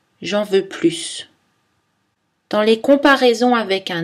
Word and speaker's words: plus: Cette différence ne s'entend que dans le S de plus. J'en veux plus, j'en veux plus.